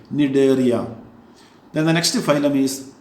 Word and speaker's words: Cnidaria: C is silent here. Cnidaria.